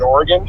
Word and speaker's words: Oregon: in Tigard Oregon yes 10-4 and it is pronounced Oregon indeed well I was never gonna argue with